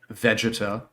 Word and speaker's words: Vegeta: jewelry because the potara earrings allowed Goku and Vegeta to Vega Veta it's everybody pronounces it Vegeta and it allowed them to